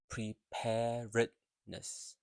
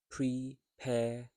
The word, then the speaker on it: preparedness: l rather long word preparedness so it's four syllable so here you have to pronounce the when you um here you have to pronounce all the vowels preparedness where um whereas the